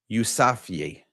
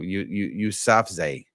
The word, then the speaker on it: Yousafzai: And let me tell you a little bit about it's Malala Yousafzai. I think I might be saying it. Yousafzai, I believe is how it's pronounced.